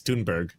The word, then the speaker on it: Thunberg: I thought it was Tunberg for so long because of how Amy Goodman pronounces it. And then I Yeah, I heard her interview her on the flotilla and she's like, "It's Tunberg and it's it's Tunberg not there."